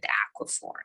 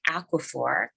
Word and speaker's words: Aquaphor: the most common ones used are Eucerin and Aquaphor Eucerin is spelled e-u-c-e-r-i-n Aquaphor a-q-u-a-p-h-o-r and these two are recommended because they